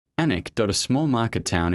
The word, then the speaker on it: Alnwick: Anic dot, a small market town in Northland, spelled Aln Wic K, but pronounced Anic.